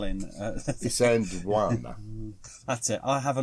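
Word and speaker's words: Isandlwana: Isandwana.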